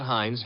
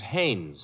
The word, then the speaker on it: Haynes: heinz used to fish no no not heinz haynes couldn't be hunningberg no